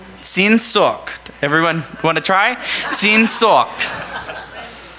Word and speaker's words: Sehnsucht: The writer explains a popular German word which captures this concept, a word that I'm going to try and pronounce, but it's the word Sehnsucht. Sehnsucht.